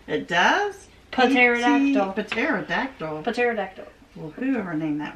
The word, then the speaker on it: pterodactyl: Pterodactyl. Pterodactyl. Well, whoever named that was stupid. Well, it doesn't. You don't pronounce the P. It's just pterodactyl.